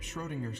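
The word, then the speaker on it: Schrödinger: book isn't for um cat ladies it's about schrodinger's cat it's pronounced schrodinger anyway i'm a dog person if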